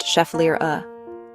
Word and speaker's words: Schefflera: The Schefflera, pronounced Schefflera, is a genus of flowering plants native to tropical and subtropical regions.